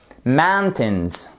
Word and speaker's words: mountains: Mountains, mountains, ok? Vous faites bien votre accent tonique sur la première syllabe.